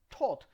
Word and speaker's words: taught: my right hand okay in these cases the g and the h is never pronounced just a t and one more thing